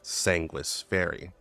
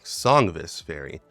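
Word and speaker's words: Sangvis Ferri: blood meaning sanguish and in Latin the V is pronounced like either a U or a w so in all is pronounced sanguish fairy now it's completely possible you can say songis fairy because that's what the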